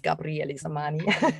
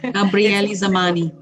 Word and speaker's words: Gabriely Zamany: We pronounce it like an E, so it's not Zamany and it's not Gabriely. It's Gabriely Zamany. Gabriely Zamany. Gabriely Zamany is the business name.